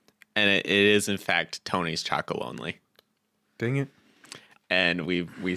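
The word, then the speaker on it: Tony's Chocolonely: I recently saw an ad for Tony's Chocolate Only, and they actually pronounced it, and it is in fact Tony's Chocolate Only.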